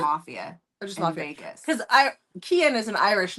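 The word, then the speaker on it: Kian: It's K I A N. But she pronounced it Kean Kean.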